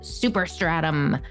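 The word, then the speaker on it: Superstratum: your entire home visit super stratum I have to say it like that like it's a super right super stratum that's super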